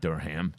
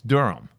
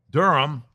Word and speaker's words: Durham: Not Durham, it's Durham. Why do I say that all the time? Dur Durham 3 to one.